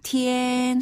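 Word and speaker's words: 夏天: 아래로 뚝 떨어지는 의미인데요 여름 하자를 중국어로는 시아라고 발음해서 시티엔 시티엔 한번다 시티엔 시티엔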